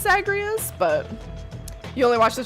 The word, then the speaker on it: Zagreus: Zagreus I think it's I think it's pronounced zagreas but you only watch